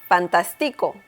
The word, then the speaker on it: fantástico: Once again, we see here some intonation that we need to pay attention to. And we can see that the letter A here in the middle of the word has an accent mark. So, once again, the intonation is stronger there.